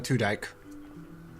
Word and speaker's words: Tudyk: is voiced by Alan Tudyk is that true also no it's pronounced to dick for sure okay I